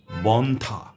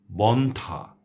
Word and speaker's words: বন্ধ্যা: একইভাবে স্বাস্থ্য, সন্ন্যাসী, মর্ত, হর্ম, বন্ধ্যা, অর্ঘ্য, কণ্ঠ, অন্ত ইত্যাদি। এই শব্দগুলোর সবকটিতেই শেষে যুক্ত বর্ণ রয়েছে এবং তার সঙ্গে জফলা সংযুক্ত আছে, কিন্তু সেই জফলার কোনো উচ্চারণ হচ্ছে না।